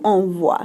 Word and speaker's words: envoies: Tu envoies makes that wa sound.